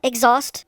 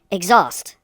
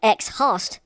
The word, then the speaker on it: exhaust: Well, anyway, why don't we spell exhaust also? Okay, here we go. Exhaust. E-X-H-A-U-S-T. Exhaust. Kind of looks like ex-host, but it's not.